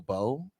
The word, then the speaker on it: beau: would call them your beau. Yeah. So I'm essentially bae. Yeah. So my mama called me Bobo. Yeah. It's not spelled like Bobo. It's spelled like B-E-A-U.